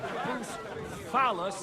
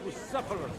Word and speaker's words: Bucephalus: The sooner life returns to his What kind of name is Bruce Phallus, anyway? It's pronounced Bucephalus.